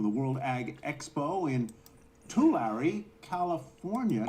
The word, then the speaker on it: Tulare: Our own Jane Wells joins us live from the World Ag Expo in Tulare, California. Did I pronounce that right, Jane? I think I blew it. Jane Wells. It's Tulare. You're very close, Tyler.